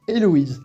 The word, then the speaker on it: Héloïse: En français, Héloïse, le H on le prononce pas, donc pas besoin d'en mettre en coréen, sinon on le prononcerait.